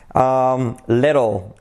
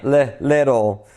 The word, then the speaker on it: little: Pronunciation, the L. Little. The short I, little. The T becomes it's not so important, but keep it in mind, little.